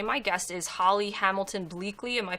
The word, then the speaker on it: Bleakley: welcome everyone today my guest is Holly Hamilton bleakly am i pronouncing that right yes and Holly is the